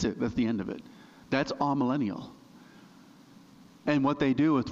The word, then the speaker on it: amillennial: The popular view now is the amillennial. It's the letter A and then millennial, and it's pronounced amillennial.